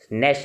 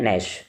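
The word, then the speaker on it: gnash: नैश के spelling भी याद करने हैं, शुरू में जी आता है, साइलेंट होता है, नैश।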